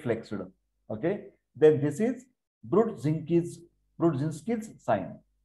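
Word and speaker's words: Brudzinski: Okay, then this is Brodzinski's sign. Pronunciation, Brod, Z-I-N, Zinskit sign, flexion of the neck.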